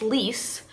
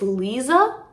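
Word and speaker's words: Liese: on like online, that her name is not actually pronounced Lise. I think it's Liza, like Liza, Z-U, like there's a Z sound in there.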